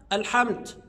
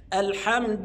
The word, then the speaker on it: الحمد: الحمد لله رب العالمين لا يا احبابنا مو حمد او مش حمد لا الحمد ال لابد اجيب الالف واللام الحمد لله بعض الناس ينطق خطا الحمد يجيبها تاء ينطق الدال تاء وهذا خطا امال الصواب ايه الحمد الحمد لله والدال مضمومه ما يقفش عليها يسكنها ما ينفعش يقول الحمد لله او الحمد لله لا الصحيح الحمد لله تمام بعد كده في